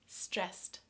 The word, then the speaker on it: stressed: StressT, stressT.